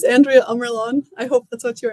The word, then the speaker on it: Andrea Ammerlaan: how it's pronounced uh are you asking how my name is pronounced yeah yeah we know how it speak native it's uh my name is Andrea amlon I hope that's what